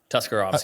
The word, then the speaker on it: Tuscarawas: Tuscarawas County. That's what I thought. Everybody try to say that 5 times fast. So it's really easy. It's Tusk, Car, A-was. That's literally how it's spelled.